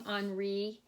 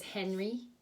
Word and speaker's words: Henri: anri's scissors and I'm saying onry because that would be the French way to say it even though I know my French accent it's not good so don't quote me but we would pronounce this Henry in English but I'm gonna call